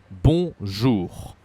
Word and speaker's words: bonjour: Bonjour. Say again, bonjour. And there is a R at the end.